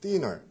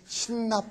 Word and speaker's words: thinner: 근데 한국 사람들은 그걸 주로 뭐라고 발음하죠? 그렇죠. 몸에 신나 뿌리고 자살. 어떤 사람은 신나, 어떤 사람은 또 신어. 막 이렇게 얘기하는데 그게 thin에서 나온 단어입니다.